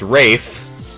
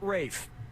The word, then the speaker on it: Ralph: It's Rafe, but I don't know which one that is. Yep, Rafe Fiennes' first Okay. name is spelled like Ralph, but pronounced Rafe.